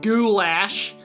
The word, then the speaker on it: goulash: because, I mean, obviously, we all know what goulash is, right? But, yeah, it's still, or as the Americans say, goulash.